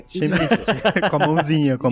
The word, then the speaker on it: Tzimisce: Tá, agora a gente sabe como se pronuncia. É Tizimite.